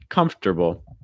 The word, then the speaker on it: comfortable: words in english because it's not going to be pronounced like how it's spelled comf dur ba comfortable so the key things